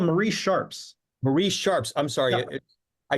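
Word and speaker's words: Marie Sharp's: over and over again Mar shos is that how you say it from it's called no no no it's called Marie Sharps Marie Sharps I'm sorry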